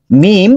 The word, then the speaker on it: মিম: আরেকটা সামনে পড়বো ইনশাল্লাহ মিম ঠোঁটের বাহিরের শুকনো অংশ যুক্ত করে আচ্ছা এখন আমরা পড়ি